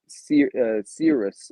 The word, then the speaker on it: Cirrus: But like you were saying with the previous one, Cirrus, if I'm Hmm. pronouncing that right, Mark, Serious, yep.